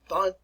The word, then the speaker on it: von: And if you can there, you probably should pronounce it properly as Ludwig von, remember the F pronunciation, Beethoven. Ludwig von Beethoven. Ludwig von Beethoven.